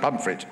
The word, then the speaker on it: Pontefract: And and my grandparents made their money making Pontefract cakes in South Yorkshire. They say Pontefract, but yes, pronounced Pumfret. Right, okay. Pumfret cakes.